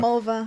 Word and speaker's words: Mulva: Because they have an episode about a girl's name that rhymes with vulva. Mulva.